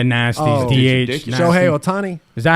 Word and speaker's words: Ohtani: Shohei Ohtani. Is that how you say his name? Yeah, Ohtani?